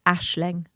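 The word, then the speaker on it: Aisling: I think that's a little You pronounce it Ashling.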